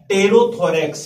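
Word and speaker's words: pterothorax: तो टेरोथोरेक्स ध्यान रखें, टेरो पी से यहाँ पर स्टार्ट होता है, इसकी स्पेलिंग बच्चों पी की से इंसेक्ट के अंदर स्टार्ट हो रही है, बट पी साइलेंट रहता है, दैट इज कॉल्ड टेरोथोरेक्स.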